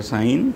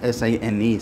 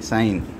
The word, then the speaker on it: sin: So it's not pronounced as sin, because actually the full form is sine, sine.